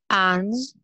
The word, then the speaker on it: ange: Ange. Ouais. Essayez de faire la nasale vraiment comme une nasale. En, en, en.